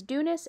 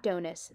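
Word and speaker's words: Dounis: Hey, just letting you know that I mispronounce Dunus this entire video, so know that it is Dunus and not Donus.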